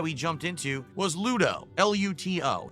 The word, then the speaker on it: Luto: L U T O. Why does he say such a hard T? Well, because then people know it's a T and not a D. Not Ludo with a D, but L.